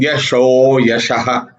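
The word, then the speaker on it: यशोऽयशः: When you are pronouncing Sanskrit, you will read it as tapo danam yasho yashaha. But actually, the words are yasho ayashaha. And you're joining them together, it becomes yasho yashaha.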